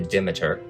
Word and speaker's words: Demeter: a ship called the i pronounce the demeter they call it the dimeter in the play ends